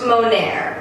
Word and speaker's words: Moner: It's pronounced Moner, and there's a story behind that, and since this is a ranting video slash deep questions, I'm going to rant about it. It's like Mo as in more, and then Nair as